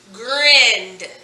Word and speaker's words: grinned: grinned. It's all one syllable. We only hear one vowel sound. We only hear the it. So grinned. So ed says d in the word grin.